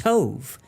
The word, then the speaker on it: tov: and a Yiddish word that that means it's pronounced Tove and it means completely different from the way